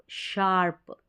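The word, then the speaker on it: sharp: जाएगा एस और एच, इसको हम श प्रोनाउंस करेंगे और ये बन गया श और आर्प, शार्प।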